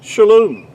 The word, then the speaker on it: shalom: points do we have the o sound it's pronounced really to be more accurately would be shalom in ancient Hebrew and this you might want